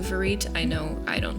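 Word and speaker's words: vérité: Um, but it's actually a French word pronounced closer to verit.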